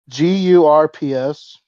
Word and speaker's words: GURPS: GURPS. It's It's like the burp, one but the with a one G.